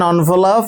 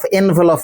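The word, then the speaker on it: envelope: রাখবে tense put ইন অনভপ and seal এটা উচ্চারণ হচ্ছে অনভ এনভলপ নয় বাবা সেই চিঠিটা একটা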